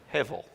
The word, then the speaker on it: hevel: That word is hevel. Or if you wanted to spell it the way that Genesis chapter 4 does, Abel.